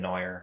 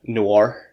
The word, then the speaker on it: noir: black yeah so um i always said neuer that's how i always pronounce it but the way you said it i'm pretty sure is the way real way is saying it lawyer noir noir noir oh yeah like in